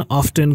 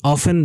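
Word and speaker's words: often: ऑफ्टन का pronunciation, ऑफ्टन का उच्चारण ऑफन भी होता है, पर ऑफ्टन ज़्यादा सुलभ है, ऑफ्टन का इस्तेमाल ज़्यादा होता है।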